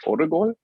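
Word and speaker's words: 오르골: I think it's from French, and the Korean pronunciation is orgol. It's like ORGOL, I think.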